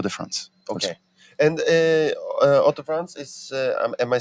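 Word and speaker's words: Hauts-de-France: beer from all the fronts okay and uh Auto France is am I saying it correctly absolutely for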